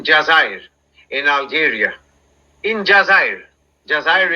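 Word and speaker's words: جزائر: Jazair is how it's pronounced.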